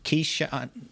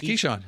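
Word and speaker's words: Keisean: Bill will help me out with the pronunciation of one guy's first name. Kean Nixon. That's Keshan.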